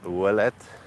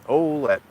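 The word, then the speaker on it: Ouellette: olette Avenue here it's if you're French you would pronounce it wette but here in Windsor we kind of have different ways of pronouncing things than uh I don't know I guess than the the French settlers that settled the area so it's olette the next street over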